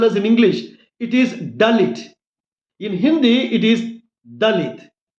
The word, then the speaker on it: Dalit: In Hebrew Dalit is pronounced as Dalit. D for Delhi. D for Diamond. D for Dalit. Generally in India, in Hindi language we pronounce Dalit as Dhalith.